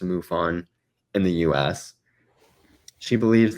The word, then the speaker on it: MUFON: the Mutual UFO Network, or I think it's pronounced MUFON, in the US.